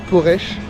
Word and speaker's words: Poreč: Bonjour, on se retrouve à Porche Porche ou ça s'écrit mais c'est Porche qui a l'accent chapeau à l'envers.